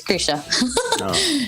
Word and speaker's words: Krizia: a nice name and it was kritia it's an italian brand and they closed i think a few years ago but it was an italian brand and then they didn't really know how to pronounce it so it's krisha and then after that